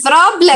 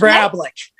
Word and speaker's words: Vrablik: Vrablik. You were close. It's Vrablik. Vrablik.